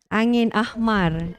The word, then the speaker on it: angin ahmar: No, not the pronunciation. You might be surprised. Okay, two words actually. Angin. Angin ahmar.